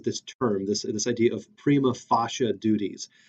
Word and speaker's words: prima facie: Ross very frequently uses this term, this idea of prima facie duties. Sometimes people say prima facie or prima facie or whatever. Honestly, it doesn't have a correct pronunciation because it's medieval Latin, right?